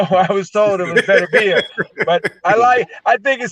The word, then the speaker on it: Beterbiev: I was told by him, Beterbiev. Beterbiev, okay. Beterbiev. Right. But because instinctively, being English, American, I say Beterbiev. I say Beterbiev, even though I was told it was Beterbiev.